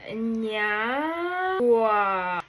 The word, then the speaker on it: Nyagwa: So guys, my name is Nyagwa and it's pronounced Nyagwa.